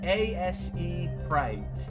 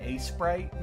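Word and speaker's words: Aseprite: It's like ASE Sprite. It's like, I just end up saying A Sprite most of the time.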